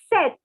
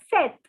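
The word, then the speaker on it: sept: word for seven is set so take your colored pen and circle the p it is not to be pronounced again so it is set set so ah the through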